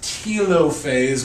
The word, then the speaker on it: telophase: Next, you have telophase. I've also heard it pronounced telophase, but only the Brits do that, so don't be silly.